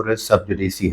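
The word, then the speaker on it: res sub judice: उसकी जो प्रोनाउंसिएशन हम यूजुअली सुनते हैं वो है रेस सब जुडिस, जबकि इसकी करेक्ट प्रोनाउंसिएशन रेस सब जुडिसी है।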